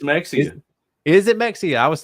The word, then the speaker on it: Mexia: That's not how you say that. Brett, how do you pronounce that? It's Mexia.